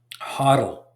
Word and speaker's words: HODL: a couple of them so hodle it's I know it's not a spelling mistake that's how they say it it's spelled wrong but that's how they say they don't say hold they say hodle hodlers you're going to